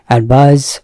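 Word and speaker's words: advise: এডভাইস শব্দের অর্থ কি এডভাইস এটা খেয়াল করবেন যেটা স আছে আছে সেটার উচ্চারণ কিন্তু সনা জডভাইস এই অ্যাডভাইস মানে হচ্ছে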